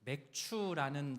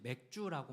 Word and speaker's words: 맥추: 아멘.이 맥추라는 단어. 어, 사실 교회를 다니지 않으면 많이 생소하시죠? 생소한 단어입니다. 그래서 교회 많이 안 나시는 분들은 이제 맥주라고 많이들 발음을 하세요.